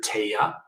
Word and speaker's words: Tehya: We named her Taya, which is spelled Tehya, and it means precious in Cree.